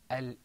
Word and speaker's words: الإنسان: Now, because the seen is pronounced in a close place next to the noon, this hukm here is called ikhfa. And that's why we say al-insan.